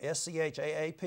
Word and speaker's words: Schaap: Schaap, that is his name, S-C-H-A-A-P, it's pronounced Schaap, did not respond to an interview request made through Porter County Jail.